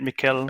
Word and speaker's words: Michel: Yeah, that's a German pronunciation. In English, you say it Michael, basically. Michael in English. Okay. Nice to meet In German, you. it's Michel.